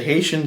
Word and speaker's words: HatiOn: Now I don't know if it's pronounced Haitian or not. The O in Haitian is larger. It's an uppercase O, so I don't know if that means it's pronounced a different way.